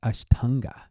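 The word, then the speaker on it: aṣṭāṅga: And you also have the word atanga, which in Sanskrit would be pronounced ashtanga.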